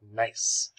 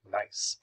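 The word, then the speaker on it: gneiss: high-grade metamorphism is nice it's pronounced nice g-n-e-i-s-s nice so here are some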